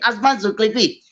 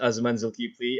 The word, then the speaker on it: Azman Zulkiply: bit about yourself man my name is azaman zultipli uh i'm actually very happy that today you pronounced it uh correctly a lot of people